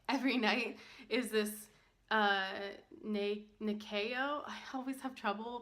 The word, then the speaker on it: Nyakio: It's Nyakio.